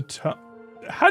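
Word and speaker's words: Touhou: Ryukishi uh Duskbug says Ryukishi and Zun the to How do you pronounce Tohjo?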